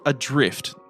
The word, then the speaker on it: ADR1FT: The game is called Adrift. Now, if you're going to search for this, you're better off searching for it as the way it's spelt. Yep. Replace the I with a number 1.